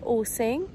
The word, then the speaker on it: Ulcinj: It's called Ulcinj, that's how you say it.